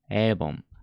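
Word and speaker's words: 일본: の裏の天井に押し付けます avon エイボンで発音します日本語なるみたいに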